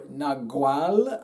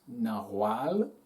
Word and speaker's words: Nawal: Nawal or Nagual, I think the pronunciation is Nawal, is closest to the original Mayan.